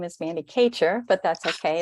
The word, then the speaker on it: Kachur: sage webinar presented by Amy Carpenter and Mandy Couture Mandy if I'm pronouncing your last name wrong I apologize uh